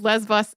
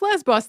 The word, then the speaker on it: Lesbos: I also love the Greek spelling / pronunciation of Lesbos there, because it's definitely a B in English, but apparently if you go to Greece, they will insist that that is not a B.